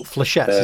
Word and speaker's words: Flechettes: Oh, Flechettes.